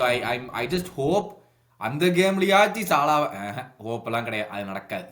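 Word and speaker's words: Salah: ஆனா வந்துட்டு சாலாவை வந்து அவன் ரெஸ்ட் கொடுக்குற மாதிரி தெரியல, இல்ல சாலா விடுறது இல்ல. அதான் சாலா கிடையாது, சலாவை விடுறது இல்ல, சாலா கிடையாது. நீங்க வந்து தப்பா ப்ரொனவுன்ஸ் பண்ணாதீங்க, சலா.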